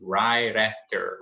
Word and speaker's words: right after: Right after você pode juntar, obviamente. Right after, right after. Esse T vai virar esse R'inho aqui e juntar no after.